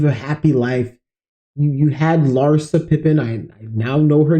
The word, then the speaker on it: Larsa: You had Larsa Pippen. I now know her name. I can pronounce her name now. It's Larsa, not Larissa. I don't know why I thought it was Larissa Pippen, but Larsa Pippen.